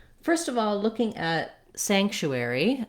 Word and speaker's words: sanctuary: all looking at sanctuary the first part of the word is where the stress is so i want my stress on the sank syllable and then the chewery syllables are going to go quick and be somewhat reduced so long on sank and then chewie quick basically the first part